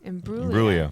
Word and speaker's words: Imbruglia: So I went back, and it's "Torn" by Natalie Imbruglia. Imbruglia. You got close. I was close. Yeah. Okay. You just don't pronounce the G. Yeah. It's a silent G.